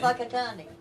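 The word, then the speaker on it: Whakatāne: It is Maori language. Spelt with a WH. Yeah, Right, like a PH. yeah. Yeah, like they say phone. Yes. Right, gotcha. It's Whakatane.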